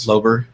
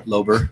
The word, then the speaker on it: Lowber: my heterosexual life partner who's maybe just mispronounced Slover thank you Lober lobo more years of